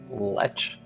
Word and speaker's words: lech: Lech. Lech. Yeah, like lecherous.